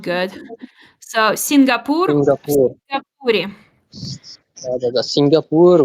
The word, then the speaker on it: Сингапуре: В Сингапуре. Hold on. Сингапуре. В Сингапуре. Yes, hold on. Да. The last you over here is not good. So, Singapore. Сингапур. Сингапуре.